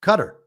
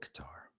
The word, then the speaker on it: Qatar: All right, it's cutter now. It's cutter. It's always been cutter. It will it will forever be cutter. I am experiencing great shame for having called it Qatar with such confidence.